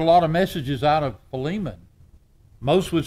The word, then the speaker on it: Philemon: divide it the syllables but it's philemon now some will look at me in a lot of settings you go preacher and oh no now that's filming that's filming and avengers we had